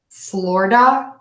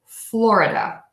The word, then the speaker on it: Florida: um you can say floor duh just like the floor that you walk on Florida Florida Florida I also hear some people say Florida Florida Florida so what you're going to add do there as you're going to add an extra swap schwa syllable and you're going to make sure that that is super short and then you're gonna go from two beats to four so let's listen to